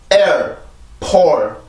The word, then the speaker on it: airport: 앞에서만 긴장을 하고 뒤에서는 소리를 풀어요. 즉 성대를 풀려준다라는 얘기인데 소리 흔적만 남겨주는 거죠. 자, 해봅시다. air. 다시 한번 air. or air. 자, P 발음이 여기 있죠. airport.